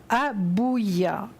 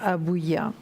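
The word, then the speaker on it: Habuhiah: jour un prénom assez compliqué aujourd'hui il s'appelle abouya alors ça s'écrit h abbaye hu jia h comme vous le voyez sur votre écran il est absolument magnifique notre ange abouya je vais vous donnez donc l'ange gardien des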